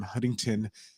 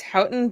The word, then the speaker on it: Houghton: please everybody put your hands together for Sam Huntington and welcome to the show well thanks for